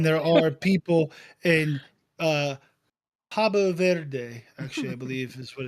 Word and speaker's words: Cabo Verde: There are more people in Columbus than there are people in uh, Cabo Verde. Actually, I believe is what it says here, is how it's pronounced.